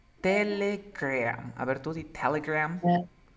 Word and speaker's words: Telegram: Es una E que se transforma en A. Mira. Telegram. Telegram.